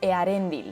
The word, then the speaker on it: Eärendil: Como por ejemplo Earendil. Hay que pronunciar la E y después la A y no hacer diptongo ni pronunciar otra vocal